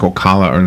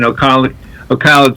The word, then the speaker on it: Ocala: Are you familiar with Ocala? You said it right. Most people who are not from here say it differently, like Ocala or something.